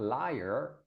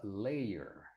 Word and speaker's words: layer: do you say yeah so not liar but layer oh layer layer o